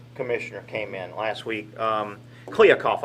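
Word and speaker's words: Kliavkoff: came in last week kliakov i believe is how you pronounce his last name george kuyakov and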